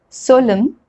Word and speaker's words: solemn: N is not pronounced when it comes after M at the end of a word. For example, column, hymn, autumn, solemn, condemn.